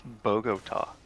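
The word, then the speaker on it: Bogotá: bagot problem how do you say it it's Bogota boo I mean you say it more with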